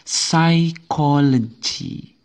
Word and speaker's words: psychology: ini misalnya apa yang yang silent H ini cara membacanya adalah psychology psychology jadi yang tidak dibaca apa iya p-nya bukan psai bukan bukannya psychology bukan jadi dibaca psychology Jadi huruf p-nya huruf P pada kata ini tidak ikut dibaca Oke kalau sebelumnya